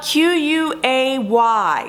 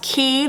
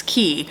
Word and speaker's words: Quay: sponsored by key Bell q-u-a-y so for some reason it's pronounced key they just be putting letters together Quay no it's key key offers stylish and